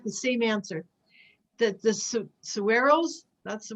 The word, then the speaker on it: saguaros: That the Saguaros, that's the right, how you pronounce it, they are more earth-based.